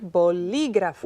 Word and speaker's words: bolígrafo: Entonces, bolígrafo. Where's the stress? I hear Bolí. li. Ajá. Bolígrafo. Okay. Y entonces necesita un acento Claro que sí. en la I.